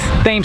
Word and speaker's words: Thames: Alright, so just about made it back down to Thames Street. I think it's pronounced Thames Street and not Thames Street like it is in London.